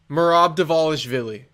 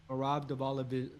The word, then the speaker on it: Merab Dvalishvili: Merab Dvalishvili. Merab Dvalishvili.